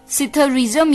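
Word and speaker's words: psithurism: alphabets का शब्द है इसमें पी जो है वो साइलेंट है सिधार्थिस्म पीएसआईटी हा यू आर आई एस एम सिथूरीसम यानी की आ रेसलिंग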